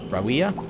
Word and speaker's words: Rawiya: Rawiya? I hate that name. Thanks for your help just now. I'm Rawiya. Rawiya? So kind of like Maria, but with like an ooh lisp.